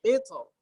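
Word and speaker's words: القطر: Wa asalna lahu ainal qitr. Kita bacanya tebal kan? Iya. Ya padahal boleh tipis.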